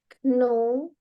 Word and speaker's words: know: You will not know the process until you try it. Nggak usah pakai it ya, langsung it, try aja. Nah, tapi Jadi, cara pronounce know ya, itu know-nya itu kayaknya nggak usah dibaca.